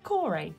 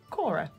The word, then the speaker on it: Kore: that point isn't Persephone, it is Kore, or Cora, or Kor, however you want to pronounce it.